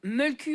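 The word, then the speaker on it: Mölkky: Et donc, oui, alors, Mulku, en fait, ça se dit comme ça en finlandais. Et ça s'écrit avec un i.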